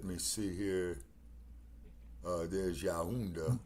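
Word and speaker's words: Yaoundé: Uh, there's Yaunda right there in the camera room. Y A U. No. Y A O U N D. That's pronounced Yaunda.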